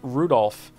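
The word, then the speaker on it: Rudolf: on it's just anyway this guy's name is pronounced Rudolph haha he must hate grandfather for giving him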